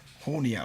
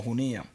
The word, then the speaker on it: Junia: E en el en el en Romanos, Romanos 16:7, eh, ahí aparece una mujer profeta que se llama Junia o Junía, depende la la pronunciación que use.